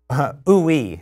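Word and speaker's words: Ooui: And it's called OOE is how you pronounce that.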